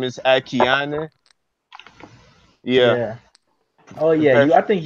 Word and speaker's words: Akiane: Yeah, Akiana. She's a painter. Yeah, Akiana. Yeah, that's her name. Akiane. Her last name is kind of tough to pronounce, but her first name is Akiane.